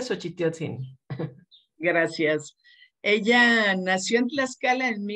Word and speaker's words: Xochitiotzin: Se pronuncia Xochitiotzin.